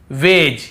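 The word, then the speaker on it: wedge: फिर देखिए हेज और वेज यहां पर भी डी को हम नहीं पढ़ रहे हैं।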